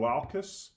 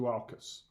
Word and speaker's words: Dualchas: family's in store this is two Mountain Dew alkis and that is the correct pronunciation Scott Fraser who is these regional sales